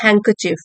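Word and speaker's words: handkerchief: with a huge green हैंकचिफ, डी यहाँ पे silent है, ह्यूज मीन्स बड़ा, ग्रीन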